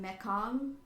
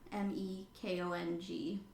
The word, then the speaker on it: Mekong: of Laos, where I don't know how to pronounce this one, Mekong, Mekong. Sounds like that's how you pronounce it. Right, I don't know how else you would, but Mekong.